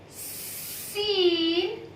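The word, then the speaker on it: سين: Yes, it's pretty simple and it pronounced as seen, seen.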